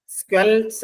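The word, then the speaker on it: squelch: ഇ എൽ സി എച്ച് സ്ക്വൽസ് എന്നാണ് ഉച്ചാരണം എസ് ക്യു യു ഇ എൽ സി എച്ച് സ്ക്വൽസ് സ്ക്വൽസ് എന്നും ഉച്ചാരണം കണ്ടിട്ടുണ്ട് സ്ക്വൽസ് എന്ന് നിങ്ങൾ ഉച്ചരിച്ച് ശീലിച്ചാൽ മതി സ്ക്വൽസ് എന്ന് പറഞ്ഞാൽ നിശബ്ദനാക്കുക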